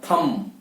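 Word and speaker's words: thumb: या थम या क्लाइम, तो इसके एंड में जो बी है उसका उच्चारण नहीं करना है। तो हमेशा जो भी शब्द के अंदर MB एंड में आता है तो बी का उच्चारण नहीं होता है, ये याद रखना है।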